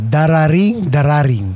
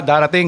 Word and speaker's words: darating: Dararing? Ah, darating.